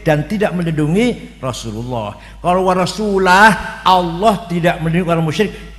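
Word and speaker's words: ورسوله: Annallaha bari'um minal musyrikin wa rasulih. Sesungguhnya Allah tidak melindungi orang musyrik dan tidak melindungi rasulnya. Salah. Yang benar bacanya Annallaha bari'um minal musyrikin wa rasulah.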